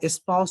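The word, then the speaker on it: espouse: আচ্ছা, এসপাউস শব্দটার প্রোনাউন্সিয়েশনটা একটা স্পাউসের মতো না?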